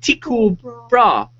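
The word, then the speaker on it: Tycho Brahe: scientist that I couldn't It's Teco Brah Tiko Sorry Tiko Bra And he says that's according to Google So he's gone on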